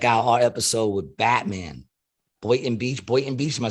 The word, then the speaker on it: Boynton Beach: Boynton Beach. Am I saying it right? Boynton Beach, yeah.